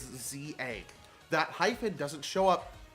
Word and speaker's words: Z-A: It's not Z, the game's not pronounced Z to A. It's Z-A.